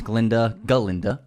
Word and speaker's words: Galinda: She was really fun as Galinda. The gut is silent.